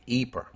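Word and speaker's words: Ypres: have to concede that English speakers usually call the town by its French name eer that's largely because of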